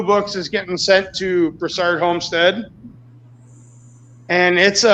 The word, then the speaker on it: Broussard: Broussard or Broussard?